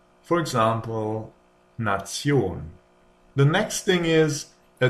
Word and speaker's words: Nation: If a word ends in this here, it is pronounced tion. For example, Nation.